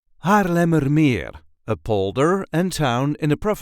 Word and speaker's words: Haarlemmermeer: a regular Dutch accent Haarlemmermeer, a polder and town in the province of Noord-Holland. This is the way we say Haarlemmermeer. Haarlemmermeer. There is a light emphasis on the very last syllable.